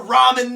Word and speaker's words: ramen: to tell you that there is one way to pronounce it correctly these are ramen noodles these are not raymond noodles these are not reconstituted noodles these are Robin noodles if you pronounce that